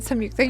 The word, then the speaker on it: Samyuktha: I've I'm I've said that name wrong every single time I've said it. wreck. Oh, it's starring Dhanush and Samyuktha. You were right.